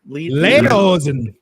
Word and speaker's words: Lederhosen: Lederhosen.